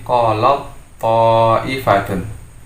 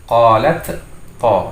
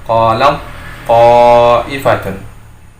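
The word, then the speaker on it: قَالَتْ طَائِفَةٌ: membacanya menjadi, kita tutup, dia menjadi qalat ta'ifatun. Jadi tidak membacanya qalat to, tapi langsung masuk ke dalam to, membacanya qalat ta'ifatun.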